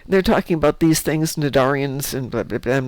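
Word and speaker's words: Cnidarians: They're talking about these things, Nadarians, and I'm like, "Huh, that's a weird word." And I finally Googled it. It's like, "Oh, that's how you say that word. The C is silent.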